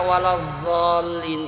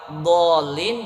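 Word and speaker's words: الضالين: Kalau baca Al-Quran akhir surah Al-Fatihah bacanya huruf zo apa dod? Dod. Bunyinya gimana? Berarti kalau ada yang baca waladzallin itu kira-kira kurang pas. Bahkan kalau ditelusuki lagi bisa merubah arti. Kalau dolin dibaca zollin.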